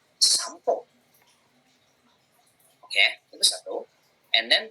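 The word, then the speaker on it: 散歩: Berarti dibacanya bukan sanpo, tapi dibacanya ke M, jadi sampo.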